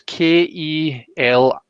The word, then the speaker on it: Ceilidh: So like how do you spell it? Kelly or K? No, so it's Kelly.